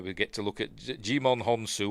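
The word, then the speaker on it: Djimon: There we get to look at Jimon Honsu. Or is it Jaimon? Dean Devlin pronounced it Jaimon. I've always pronounced it Jimon.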